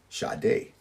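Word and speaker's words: Sade: number 19 we have shade spelled sad D pronounce shade she was a Nigerian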